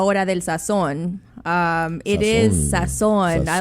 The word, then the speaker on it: Sazón: It is Sazón.